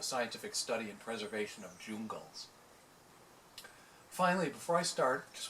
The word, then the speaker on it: Jungle: a silly love song jungle is pronounced so it rhymes with google as if we were